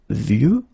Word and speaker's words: vieux: And the last one is vieux, old, un vieux arbre. Okay, of course you've got this X at the end, but you don't pronounce it.